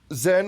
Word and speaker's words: Zhenn: Zhenn with the double N.